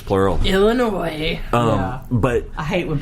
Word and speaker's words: Illinois: illinois to that's right the s is silent um illinois no not even if it's plural illinois um but i hate